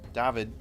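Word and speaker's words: Dawid: of his brother's name david whose name is spelled d-a-w-i-d not the typical david that you ha ha it is pronounced with a v might have heard of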